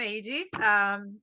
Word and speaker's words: Heidi: Well, I'm AG. That's Heidi pronounced in Portuguese.